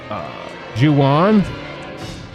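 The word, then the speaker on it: Ju-On: The Grudge and it was actually called uh Juwan yeah it's it's spelled j u Dash uh wait oh and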